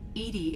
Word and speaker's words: EDI: why are you named edie edie is the phonetic pronunciation of edi no way that is